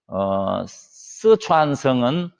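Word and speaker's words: 四川: 여러분, 스촨성은 사천성, 우리 발음으로 하면 사천성이고 중국 발음으로는 스촨이라고 합니다. 스촨.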